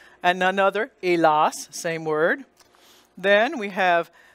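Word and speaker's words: hélas: And then because it's the A here, letter A is followed by the S, it's going to be the darker, elas. And the S is pronounced. It's an exception to the rule. And none other, elas, same word.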